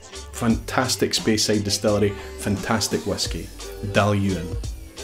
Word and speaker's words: Dailuaine: Dailuaine. Fantastic Speyside distillery. Fantastic whiskey. Dailuaine. Edradour. Now, some people add an extra syllable in here at the end and they say Edradour.